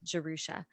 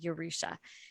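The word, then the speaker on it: Yerusha: I also said it Jerusha. And it was not until I had to hire a translator to help with the audiobook that I found out I'd been saying it wrong all along, and it was actually Yorusha.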